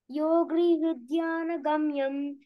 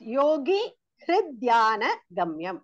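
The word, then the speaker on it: योगिहृद्ध्यानगम्यम्: Shantakaram Bhujagashenam Padmanabham Suresham Vishwadharam Gagna Sadusham Megavarnam Shubangam Lakshmikantam Kamalanayanam Yogrihudyana Gamyam Vande Vishnum Bhavabayaharam Sarvalokaikanatham. Okay, it is Yogi Hridhyana Gamyam.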